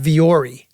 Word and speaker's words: Vuori: Why is it pronounced Viore? Yeah, because like look at the letters. Like we're Viore. I'm not seeing an E in there at all.